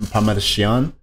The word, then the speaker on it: Parmigiano: I love hearing the correct pronunciation of these words, man. Parmigiano.